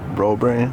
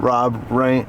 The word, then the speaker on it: Robrand: Robrand. Robrand? Rob Rand. No, not Rob Rand. Robrand. Okay.